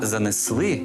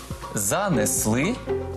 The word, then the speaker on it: занесли: занесли і прибули а занесли і прибули наголошувати треба останній склад занесли прибули до речі так